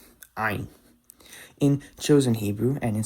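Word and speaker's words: עין: Now, the next letter I'm going to talk about is the Hebrew letter Ayin. Ayin. In chosen Hebrew and in Sephardic Hebrew, Ayin is pronounced like the Ayin that exists in Arabic.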